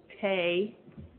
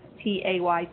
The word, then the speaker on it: te: A note that begins halfway between two beats is called tay, and it's spelled T-E, pronounced T-A-Y, tay.